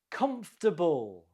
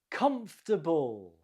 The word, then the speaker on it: comfortable: Comfortable. Comfortable. The stress is on the first syllable. Comfortable.